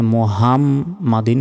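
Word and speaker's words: مُحَمَّدٍ: আলা এলাতে এক সেকেন্ড টান হবে মোহাম এখানে মুহামমাদিন বলা যাবে না মুহা বড় হার উচ্চারণ করতে হবে এবং মিমের এখানে গুন্না হবে মুহাম্মাদিন আল্লাহুম্মা সাল্লি আলা মুহাম্মাদিন।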